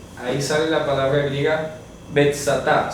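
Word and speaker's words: Βηθζαθά: Si usted va al manuscrito griego, ahí sale la palabra griega betsatá. Se pronuncia así, o la transcripción fonética al castellano saldría de esta manera. Betsatá.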